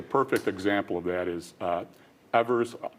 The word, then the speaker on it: Evers: Well, I think the perfect example of that is Evers. Actually, it's properly pronounced Evers.